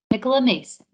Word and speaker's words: Nicola Mason: Nicola Mason. Nicola Mason here. Thank you for pronouncing that correctly.